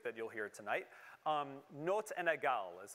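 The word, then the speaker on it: notes inégales: in baroque music that you'll hear tonight um notes and nagal is how you pronounce that and essentially that just means unequal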